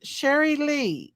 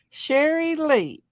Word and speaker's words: Sherry Lee: that's gonna go Sherry Sherry Lee is how you say my name Sherry Lee okay Shirley uh just